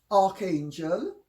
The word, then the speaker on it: archangel: And in Greek, and even in English, arch followed by a vowel is the CH is pronounced K. If it's followed by a consonant, it is pronounced CH. So you have archangel, Yes. but you have archbishop. Archbishop.